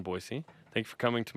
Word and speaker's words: Boise: Every time someone says it wrong, I have to hear there's no Z in Boise.